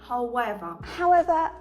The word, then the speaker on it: however: Англійською це however. Найчастіше я чую, що ви вимовляєте його як. However. Тому зараз ми це виправимо. Давайте поділимо це слово на дві частинки: how і ever.